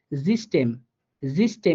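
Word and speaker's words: System: হ্যাঁ, এরপর দেখেন লাস্টে যেটা দিলাম উদাহরণ জিস্টেম জিস্টেম, এখানে কিন্তু ই এর মতো করে উচ্চারিত হয়েছে, হ্যাঁ এখানে ইপসিলনটা ই এর মতো করে উচ্চারণ হয়েছে।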